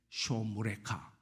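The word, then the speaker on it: שֹׁמְרֶךָ: 야회 쇼무레카 샤마르에서 나온 너를 지키시는이 쇼무레카. 예. 야회 쇼무레카.이 수능 시험에는 안 나오지만 한번 우리 발음이라도 히브리어로 한번 해 봅시다. 야회 쇼무레카. 예. 쇼를 떼지 말고 쇼무레카.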